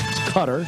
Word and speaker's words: Qatar: That's how you say it. It's not Qatar or whatever. It's Qatar.